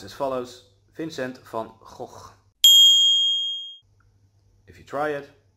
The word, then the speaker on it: Vincent van Gogh: how we pronounce it the H at the end of his name is actually silent it is just a medieval way of spelling his name so when we pronounce